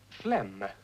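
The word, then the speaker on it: phlegm: going to be sick Flem pH is always pronounced as F and uh you don't sound the G he putting a G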